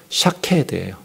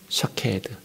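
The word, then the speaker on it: שקד: 살구나무가 샤케드예요. 샤케드. 지킨다라는 말이 샤카드예요. 샤케드, 샤카드 똑같죠, 발음이.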